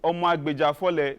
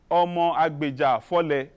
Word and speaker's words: Omo Agbejafole: Forget about and say Omo Agbejafole. This is my cultural name. I like you all to pronounce this name, Omo Agbejafole.